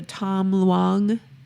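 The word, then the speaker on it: Tham Luang: Was that two syllables or three? Ton long? It's 2 words. Okay. Tom, Tom. T-H-A-M, Okay. Oh, okay. Luong, Luang. Got it.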